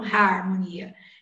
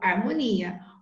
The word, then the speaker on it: harmonia: oito letras só que na hora de pronunciar eu não falo haruma nia eu falo harmonia o hagah tem sombra